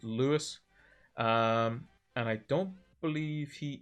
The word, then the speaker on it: Luis: I think is how you, like, his name is spelled like Luis, but I think it's pronounced like as if it's Lewis.